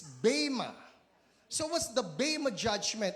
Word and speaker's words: bema: The E that was used was not an epsilon, it's an eta.